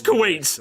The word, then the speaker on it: Kuwait: You can literally just go on Google and type how to pronounce Kuwait, and I'll tell you it's Kuwait.